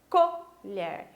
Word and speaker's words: colher: pronúncia para identificar colher Eu não falo cor olhar colher eu falo colher e eu identifico a sílaba mais forte desta forma Ok então todas essas a